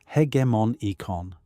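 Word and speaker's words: hegemonikon: The faculty that performs this operation of ascent or refusal is what the stoics called the hegemonicon meaning the ruling part or the commanding faculty pronounced roughly as hegmon eon.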